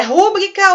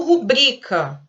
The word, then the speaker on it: rubrica: A palavra rúbrica, ela não existe em hipótese alguma.